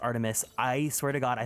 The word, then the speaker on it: ARTMS: by Artemis I I recently learned that it's pronounced Artemis I swear to God I thought it was artms love red velvet I feel like I haven't